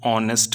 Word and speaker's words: honest: See here, the word is consonant H, but still we have used an. Why? Because the sound is of O, honest. You can pronounce in C, honest, O sound.